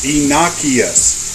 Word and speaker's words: Enochius: It is Enochius. It is derived from Enoch, from the Bible, who was taken up in a chariot of fire by God before he died.